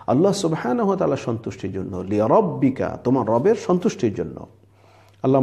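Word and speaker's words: لربك: খেয়াল রাখতে হবে যে প্রথম লি হলো একটা শব্দের শেষ দ্বিতীয় লি হল আরেকটা শব্দের শুরু তাহলে কিভাবে পড়তে হবে ফাসলি লিরববিকা প্রথমে আমরা ভেঙ্গে ভেঙ্গে পড়বো পড়ে ঠিক করে নিব উচ্চারণটা লিরববিকা ও এরপরে যখন আমরা দ্রুত চালু করে পড়বো তখন খেয়াল রাখতে হবে যে প্রথম লিতে টান না হয়ে যায়।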